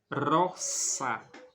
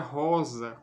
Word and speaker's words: rosa: Por exemplo na palavra Rossa então não se pronuncia Rosa como se fosse no português com o som de z mas se pronuncia como